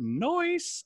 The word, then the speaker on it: Noyce: And two of his employees of that company he started, Robert Noyce, I think is how you say his Noyce. Name. I think, you know, I say noise instead of nice.